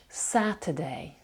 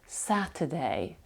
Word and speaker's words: Saturday: шва якщо ви пропустили Saturday Я майже її не вимовляю вона там проковтується її майже не чути Saturday Saturday оце е перше е під наголосом друге абсолютно не промовляється Saturday давайте ще раз